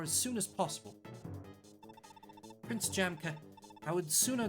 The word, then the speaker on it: Jamka: What is it pronounced? Jamka.